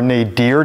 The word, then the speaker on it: nadir: It's known as the nadir or nadir, depending on which country you're in. Nadir's the common U.S. pronunciation. Nadir is more U.K. and other countries.